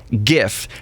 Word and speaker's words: GIF: format yeah that's right Graphics interchange format and it's a hard G in graphics so it's it's GIF but what do you